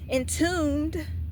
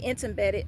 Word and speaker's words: entombed: You're cement you're being in tuned. I used to say intimidated. I didn't know how to say it when I was that age, but it was in tuned.